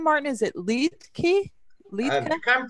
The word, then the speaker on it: Liedtke: Is it Liedtke? Liedtke? You can pronounce it that way, it'd be fine. Litzka. It's sort of Liedtke. Litzka, you got it.